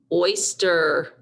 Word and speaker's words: oyster: Oil, oink, oyster. Notice oyster is spelled with a Y and not an I. That Y sounds like an I.